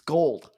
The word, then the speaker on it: Gould: It's gold. I always say Gould.